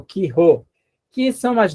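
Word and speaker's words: χῖ: O Ki, maiúsculo, Ki, talvez seu professor tenha ensinado Ri, mas disse, não pronuncie Ri, não, que é difícil. Pronuncie Ki, né?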